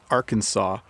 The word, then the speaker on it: Arkansas: to pronounce because it's Arkansas but there's also a state called Kansas and they look like they have this they have somewhat the same spelling but they're pronounced differently Gloria says your place